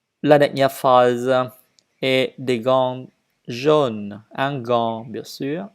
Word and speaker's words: gants: Je dois dire riz sans S, riz, vert, blanc, habit, vêtements, tricot, gants. Les lettres à la fin du mot ne se prononcent pas et donc qu'on ne prononce que le principal.